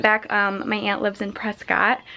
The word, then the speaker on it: Prescott: my aunt lives in Prescott or pressed brisket I think is how they pronounce it here and so that's like